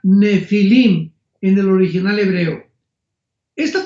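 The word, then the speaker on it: Nephilim: Nepilim se pronuncia nefilim en el original hebreo.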